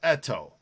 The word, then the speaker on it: Eto: ken etto was candido i thought it was eto ito we called it well i think it's pronounced eto but maybe he is but